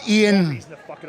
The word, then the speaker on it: Iain: And it's Iain.